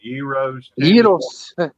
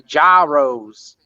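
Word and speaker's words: gyros: they've got really good Euros I can't believe you actually said it right I totally expected you to say jyos no Dev dog calls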